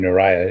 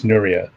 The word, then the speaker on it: Nuriah: I pronounced your name Nuriah. It's Nuriah. So, yeah, that's right?